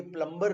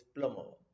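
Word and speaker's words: plumber: अब ये प्लम्बर नहीं है, वो हमारी, हम जैसा पढ़ते हैं वैसे ही उठा लेते हैं और वो प्लम्बर बोलने लग जाते हैं. But right now, right pronunciation now you know is प्लमर.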